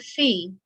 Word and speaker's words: fee: The word fee, pronounce fee, is a compensation for services, a fief